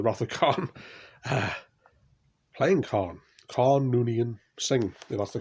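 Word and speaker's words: Khan Noonien Singh: that film the wrath of khan playing khan khan noonian singh that's the correct pronunciation so as you can see a good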